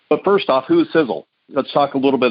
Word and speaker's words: Sisel: We know the science behind them, and that's really the foundational pieces of the company because Sizzle is spelled S-I-S-E-L, and it's an acronym.